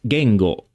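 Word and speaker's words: 言語: pronounced while the equivalent word in Japanese is pronounced Gango both words mean language and consist of the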